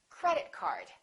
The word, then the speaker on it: credit card: words representing one object we stress the first word repeat after me credit card also say these two words as one word join them together don't don't say credit card say credit card let's practice some compound nouns